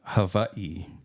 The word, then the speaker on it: Hawaii: correct yeah in Hawaii in the Hawaiian language W is pronounced with a V like that hav like